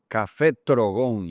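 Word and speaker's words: Café Trogón: Café Trogon. You really gotta roll your R's there.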